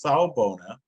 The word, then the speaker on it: Sawubona: Okay, so the name is Sawubona, and it is a Zulu word, usually used in greeting when Zulus, or folks from South Africa, meet each other.